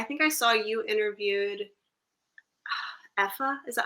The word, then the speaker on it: Aoife: Actually, I think I saw you interviewed Effa.